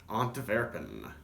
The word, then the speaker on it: Antwerpen: They're Antwerpen Stout. At least that's what the Irish brewers called it, though in Antwerp they would call it Antwerpen. More of a Dutchish, Germany-ish sort of pronunciation.